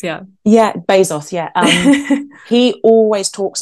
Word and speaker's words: Bezos: actually saw this from I always say his name wrong and the kids used to laugh at me Jeff Bezos did I say it right yeah Jeff Bezos yeah yeah base sauce yeah um he always